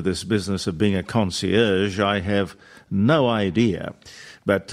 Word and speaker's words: concierge: word it's a French word isn't it a concierge yes that's correct yeah conci well oie aie